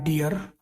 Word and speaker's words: dough: और उसी उच्चारण का DOUGH, जहाँ पे GH साइलेंट है।